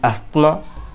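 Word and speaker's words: asthma: उसके साथ ही अस्थमा, अब ये अस्थमा का प्रोनाउंसेशन पर मेरे को कमेंट मत करना, एस्मा बोलते हैं वैसे तो, लेकिन नॉर्मली हम इंडियन अस्थमा बोलते हैं, ठीक है।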